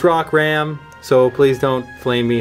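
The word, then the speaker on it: Rockram: in the rot Hammer Rock Ram we've been saying it wrong this whole time we looked at the card makes it even harder to say almost but it's rock Ram so please don't flame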